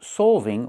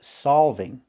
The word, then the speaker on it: solving: I enjoyed solving problems. We don't say solving, we say solving. Use the a sound like ball and call.